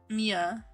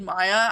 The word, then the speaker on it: Mia: I literally, when I said Maya, I literally stopped and I was like, wait, no, I said it wrong. It was Mia.